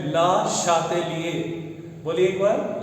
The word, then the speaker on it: Le Chatelier: ली चैटलियर। ये French scientist है और इनका जो ये फ्रेंच नेम है इसका जो करेक्ट प्रोनाउंसिएशन है वो है ला शातेलिए।